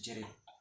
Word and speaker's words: Geril: Pakai J atau G? G. Ya. Geril. Tapi bacanya Geril.